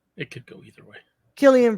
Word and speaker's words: Cillian: could go either way Killian Brad it's K it says here in the phonetic pronunciation k-i-l-l-e-e-a-n yeah after 2000 after